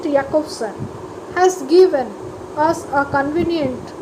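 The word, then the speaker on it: Jakobson: is the communication chain Roman Jack of sun okay pronounced yakovsan has given us a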